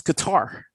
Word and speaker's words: Qatar: cuddy sark or something no it's qatar it's outside somebody google this please remember no i've heard it pronounced both ways i've heard about pronounced both ways that's because you're not arabic but it's guitar i thought that people